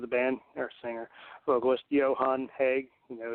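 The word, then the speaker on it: Johan Hegg: band or singer vocalist Johan heg you know his name starts with a J and it has a y sound but yeah uh am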